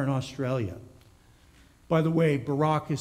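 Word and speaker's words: Baarack: By the way, Barak is spelled B-A-A-R-A-C-K, and I think it's pronounced something like this, Barak, Barak, something like that.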